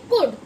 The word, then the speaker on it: could: SECOULD, इसे हम बोलेंगे कुड।